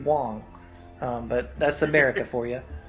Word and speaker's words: Wang: We mentioned him already, Wang. Even though you're not supposed to pronounce his name that way, it's supposed to be Wong.